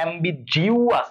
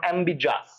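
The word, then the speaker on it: ambiguous: এই যে ইউ একটা আছে এই বেচারাটা কি সবাই মিস করে দেয়, তাহলে এইটাতে খেয়াল রাখো যে অ্যাম্বিজিউয়াস নট অ্যাম্বিজাস, মানে উচ্চারণটা এভাবে করবা অ্যাম্বিজিউয়াস নট অ্যাম্বিজাস, ওকে।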